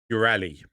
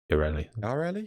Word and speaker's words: Yareli: Next, new Warframe, Ureli. I'm so glad. Yareli. Pronounced Yarel-E. Ureli. Editor's note, pronounced Yarel-E.